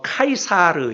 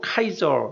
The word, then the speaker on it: 카이사르: 헬라어로는 카이사르 이렇게 표현합니다. 위에 있는 게 헬라어 단어인데요. 카이사르. 이 카이사르 헬라어를 그냥 음역을 그대로 가져와서 라틴어로 라틴 말로 카이저 이렇게 표현을 한 것이고 영어로는 영어 방언으로는 시저라고 발음을 하기도 하고 그렇지요.